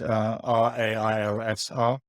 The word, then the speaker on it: Railsr: It's Railsr. Search out the video. Told you how to pronounce it.